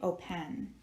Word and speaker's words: open: we would say open well we do not say open we say open so we are accenting the first syllable open well guess what that means that we are not going to double the final n because we only double the final n if we have one letter in the vowel box here one letter here but we accent the final syllable and we are not doing that we are accenting the o open so when we write